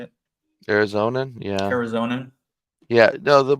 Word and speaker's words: Arizonan: What have you noticed as an Arizonian? Is that how you say it? Arizonan, yeah.